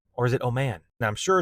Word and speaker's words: Oman: and Iran nuclear deal, and this will be held in Oman. Or is it Oman? Now, I'm sure it's pronounced Oman, but I kind of like Oman,